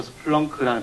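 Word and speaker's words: Splunk: 발음이 좀 이상하죠. 스플렁크라는 발음이 회사 이름으로는 좀 특이한데요. 스필렁크라고 하는 이제 동굴을 탐험하다라는 단어를 이를 빼서 이제 고유명사를 만들었습니다.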